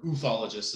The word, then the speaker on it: ufologist: For here, I've got noted ufologist, or ufologist is how we like to pronounce it. Noted ufologist Tom DeLonge.